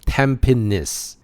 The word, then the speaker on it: Tampines: east so I'll add Tampines. This is not pronounced as "Tam" "Pines" if you guys visit Singapore, it is "Tam" "pa" "nis".